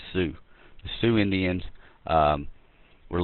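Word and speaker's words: Sioux: you need to know is these are the Sue Indians and it's spelled s i o u x Sue pronounced sue the Sue Indians um were living in the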